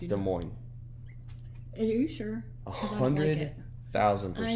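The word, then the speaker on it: Des Moines: It's de mo. Are you sure? 100,000%. I know. I just don't like it. It's de mo.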